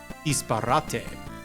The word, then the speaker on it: disparate: I could see it, Jinkinator, because it's like all these, how is this word pronounced? Disparate? Disparate? Disparate elements that don't really seem like they fit.